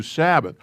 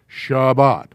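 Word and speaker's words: שבת: it gets it whatever it gets changed to sabbath but if the technical term is or the proper way to say it is shabbat that's why we sing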